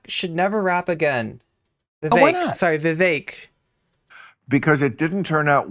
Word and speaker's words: Vivek: name is the fake it rhymes with cake watch out for my